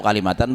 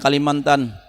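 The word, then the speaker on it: كلمة: Itu kalimatan bacanya, jangan Kalimantan. Mentang-mentang orang Banjar.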